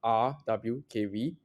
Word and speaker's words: RWKV: people in America, I actually prefer to say RWKV, receptive key value, which is a play on the famous transformer QKV. Because every time I say Roku, people keep thinking, "Are you Roku TV?" Yeah. Okay, so RWKV is it's an alternative architecture.